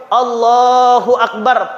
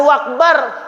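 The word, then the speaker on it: الله أكبر: harus betul Bapak Ibu Allahu akbar pakai Alif pakai Hamzah jangan jadi wau Allahu akbar ah salah ya maka anak-anak kita ini kita Ajari kita perhatikan kita awasi Bacanya apa Allahu Akbar Akbar jangan wakbar dan juga bnya jangan panjang nanti teajaja panjang salah Allahu akbar terus lain arti bukan Allah maha besar Allah jadi gendang ah maka gak boleh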